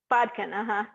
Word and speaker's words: bodkin: And I also had never seen a bodkin. Is that how you pronounce it? Yes, bodkin. Yeah, bodkin.